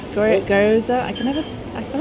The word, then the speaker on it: gyoza: The gyoza. Gyo- gyoza?